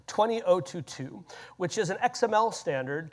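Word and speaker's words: ISO 20022: That's how they say it. Not 20,00022. They say it a very specific way 20022 which is an XML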